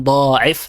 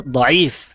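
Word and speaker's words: ضعيف: Yang mengatakan pertama salah pengucapan secara besar bukan diif tapi yang benar diif dipanjangkan ainnya bukan dotnya ya langsung dikatakan diif min aslihi.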